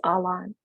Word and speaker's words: Alan: the reader for example the name Alan in Kurdish which means flag bearer sounds very much like Alan but it's not Alan it's all on um and so making